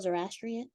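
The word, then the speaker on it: Zoroastrian: theology did I say it right Mr Phil zor asrian yes so the Dual the so going back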